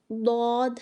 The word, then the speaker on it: ضاد: کی ادائیگی کرتے وقت یہ غلطی کرتے ہیں کہ اس کو زا، ذا، زوا یا موٹا کر کے دال کی طرح دواد یا زوا پڑھ جاتے ہیں، جو کہ صحیح نہیں۔ اس کا صحیح تلفظ ضاد ہے۔ اس میں ہوا کا